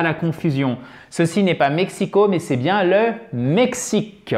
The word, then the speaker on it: Mexico: He comes from Mexico. Ok? Accent tonique ici avec un « e ». Mexico.